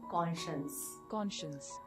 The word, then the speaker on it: conscience: And it is pronounced as KAWN-SHUNS.